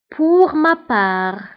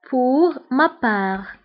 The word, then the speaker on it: pour ma part: Pour ma part. Pour ma part. من جهتي. Pour ma part. فهنا بالنسبة ل pour ma part فتكتب بالت في لافان ولكن لا تنطق. دونك انتبهوا هنا تي لا تنطق.